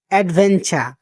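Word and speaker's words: adventure: হলো সুবিধা বা সুযোগ অ্যাডভেঞ্চার অ্যাডভেঞ্চার এখানেও দেখুন আর শব্দটা উচ্চারণ হচ্ছে না মানে র শব্দটা উচ্চারণ হচ্ছে না একটা শব্দ হয়ে যাচ্ছে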